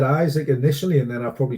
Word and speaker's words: Isak: with izakim which he introduced to himself as Alexander Isaac and not isak surely he would have